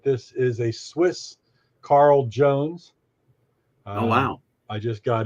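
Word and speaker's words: Jhones: never heard of the company so that's right it's spelled j-h-o-n-e-s Jones and where and it's it's Swiss yep Swiss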